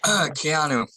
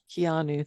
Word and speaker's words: Keanu: Yeah, Keanu. Keanu, thank you.